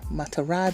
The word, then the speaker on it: Ma'Tarah: me, King the Ansubu, and whenever Queen Matara, did I say it right?